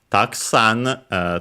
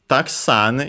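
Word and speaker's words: たくさん: Taksan is an interesting word because technically it's a noun or also an adjective, which means should be accented on the last syllable, so actually on the sa, because the accent can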